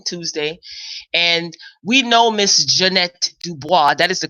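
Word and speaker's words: Ja'Net DuBois: home yesterday morning Tuesday and we know miss Jeanette Dubois that is the correct pronunciation some people say Jan Dubois Descartes Janet but it's actually Jeanette Dubois so we know her from good times which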